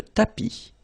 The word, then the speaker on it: tapis: Remember, final S not pronounced. Le tapis.